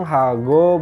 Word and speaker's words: 하고: Jadi dibacanya pang, hago, bab.